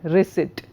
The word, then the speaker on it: receipt: For example, a word like receipt, the P is silent. So, Dictionary tells you how to pronounce words.